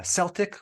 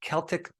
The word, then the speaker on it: Celtic: Himalayan sea salt uh Celtic or you might pronounce it Celtic Sea salt and other